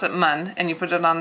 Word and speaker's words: 们: So this is mun, and mun doesn't really have a tone.